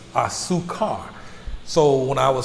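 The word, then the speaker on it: azúcar: a-z-u-c-a-r so with me i would always pronounce the z sound a zoo car whereas disease tend to make s sounds is it's a su car so when i would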